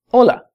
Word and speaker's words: Hola: So if you wanted to say hello to somebody, you could say, hola. Hola. Notice the H is silent.